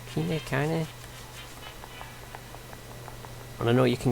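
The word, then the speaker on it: Kainé: name um and you've got his kiney they pronounce it as kanye and i know you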